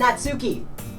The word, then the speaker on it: Natsuki: And that Suki made cupcakes and everything. Yo, You gotta said it come to wrong. Secrets. You said it wrong. There's nobody here named Natsuki.